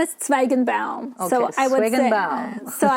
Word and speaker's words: Tsvaygenbaum: So I would pronounce it really slowly. I would say, Tsvaygenbaum, in hopes that they would get the hint that I would really want them to pronounce it.